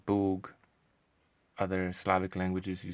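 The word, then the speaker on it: Bóg: say it right now polish you would say boog other slavic languages you say bog yeah like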